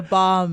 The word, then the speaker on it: balm: It's not a balm. The L is silent. It's a balm.